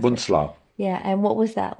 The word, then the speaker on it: Bunzlau: Kittelstreben, we went to Buchenwald or Dora or Bunzlau.